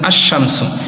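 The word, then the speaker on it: الشمس: উচ্চারণ হয় না যেরকম আশশামসু আশামসুর মধ্যে লাম উচ্চারণ হলো না তাহলে যে শব্দের সাথে যে হরফের সাথে আপনি আলিফ লাম মিলানোর পর লাম উচ্চারণ না হবে সেই হরফকেশামসিয়া বলবেন।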